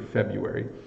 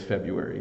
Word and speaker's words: February: the trick here is there's two pronunciations for February um you can say the r but almost no one does so you could say febru AR um but no one says February maybe teachers or people who want to speak very proper English but 99% of the world says February it's the month of February um Valentine's Day is in February um and uh the r is just uh it's just there for show uh when we say